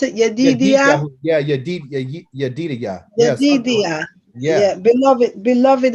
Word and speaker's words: Yedidia: Yedid, yeah, pronounce it Yedidia.